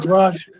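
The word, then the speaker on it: Grusch: forward in the Congressional hearing no matter what grush grush grush thank you thank you when he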